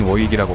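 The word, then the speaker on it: Warwick: 이름이 많이 존재하는 챔피언이다 정확한 발음은 워릭이나 워윅에 더 가깝다 뭘 위키라는 지명이 영국에 존재하며 실제로 어리기나 워윅으로 발음하고 있다 하지만 미국인 중에서는 스펠링 그대로인 워윅이라고 발음하는 경우도 많은 편이기도 하며 영어 스펠링으로 보면 워윅도 맞기도 하다 4 뭐 이게 충동작은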